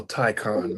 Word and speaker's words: Taycan: And the Porsche Taycan. Okay. Mm-hmm. I'll take the Taycan over that any day. Well, I'm gonna correct you. I get to correct you. It's called a Taycan, man. Okay, Taycan.